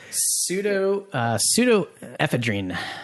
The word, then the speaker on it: pseudoephedrine: And some others that may have, not so honorable mentions would be how do you pronounce that? Pseudoephedrine.